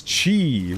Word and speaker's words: qi: Because Chi, which is spelled Q-I.